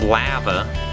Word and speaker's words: Lava: lava hot springs which the locals pronounce lava a Remo inkum downing